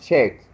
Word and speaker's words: checked: Jorge, remember the pronunciation of checked. When we have a word that ends in ed, the last word is, or you can miss the e, and just pronounce the d like a t.